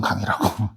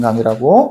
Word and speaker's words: 강의라고: 는지 보라고요 민준아 응 주옥과 같은 강이라고 철중이처럼 빨리 발음하면 안 되고 주옥과 같은 강의라고 여기 봐 보세요 그럼